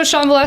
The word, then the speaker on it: Shambhala: Is that how it's pronounced? Yeah, so Shambhala.